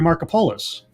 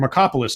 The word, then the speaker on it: Markopolos: Or if you paid at all attention to the aftermath of the Bernie Madoff thing with Harry Markopolos, or Markopolis, depending on how you pronounce it, and his book, what was it called?